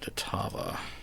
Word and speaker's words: Tava: away from the shelter let me change tava as in rhymes with lava i feel like i've seen the name tova before in some other fiction so i want to differentiate a little all right okay saga